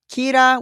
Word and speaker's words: Kira: The general public has been calling this person Kira, which is the Japanese pronunciation of the English word killer.